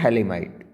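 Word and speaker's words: Phthalimide: सी ए ठीक है इट इज थैले माइड पी साइलेंट है थैली माइड थैली माइड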